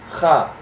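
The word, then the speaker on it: ق: little dangly thing in the back of your throat so it's pronounced claw so it kind of sounds like you're trying to clear your throat the little accent mark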